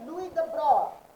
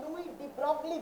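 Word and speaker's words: de Broglie: 1924 একজন young French physicist, তার নাম হচ্ছে লুই দ্য ব্রয়, ঠিক আছে? লুই দ্য ব্রয় হচ্ছে গিয়ে ফ্রেঞ্চ ফিজিসিস্ট, যেটাকে আমরা আমাদের ইংলিশ প্রোনাউন্সিয়েশনে লুই ডি ব্রগলি বলি।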